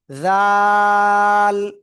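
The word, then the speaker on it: ذال: ওই একই জায়গা থেকে তিন আলিফটা নিয়ে উচ্চারণ করবো, একটু নরম আওয়াজ। জাল। লাল না কিন্তু, জাল, জাল, জাল।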